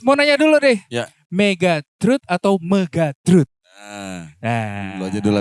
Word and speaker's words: Megatruh: kalau pengucapan sih karena kita kan ngambilnya sebenarnya namanya itu dari salah satu tembang mocopat ya. Oh, oke. Tembang mocopatnya itu megatruh.